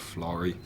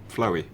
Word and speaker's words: Florrie: I heard all the stories, you know, about the ghost called Florrie, but I kept on getting her name wrong one night. I kept on calling her Floey.